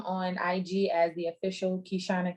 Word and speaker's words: Keyshanna: ig as the official kishana k um twitter kishana kk facebook hishana k and youtube kishana k and it is spelled the way it's pronounced k-e-y s-h-a-n-n-a okay no